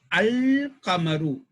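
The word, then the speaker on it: القمر: One type is, we will say al-qamaru. We will pronounce the lam.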